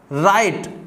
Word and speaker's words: write: अब बहुत सारे स्टूडेंट इसमें भी उच्चारण में गलती करते हैं, इसको क्या पढ़ते हैं? व्राइट पढ़ते हैं, व्राइट, क्योंकि W लगा हुआ है। लेकिन हमें यहाँ पर W की आवाज को नहीं निकालना है, यहाँ पर क्या है? राइट।